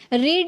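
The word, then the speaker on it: read: Second form रेड। अब यहां पे इसको प्रोनाउंस कर रहे हैं। यहां पर रेड पढ़ रहा है। क्यों? यही रूल है जब आप फर्स्ट फॉर्म में आप रीड प्रोनाउंस कर सकते हैं। बट सेकंड और थर्ड में आपको रेड प्रोनाउंस करना होगा।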